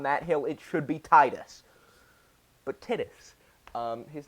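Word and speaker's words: Tidus: You play as Tittis, whose name is mispronounced, and I will die on that hill. It should be Titus, but Tittis, um, his name kind of sounds like Titties.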